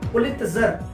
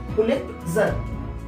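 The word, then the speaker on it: Pulitzer: Pronunciation सही करना है दोस्तों, पुलित्जर, पुलित्जर, पुलित्जर पुरस्कार पूरा खोल के लिख दीजिए और उनके लेटर्स गिन लीजिए, 17 आएंगे।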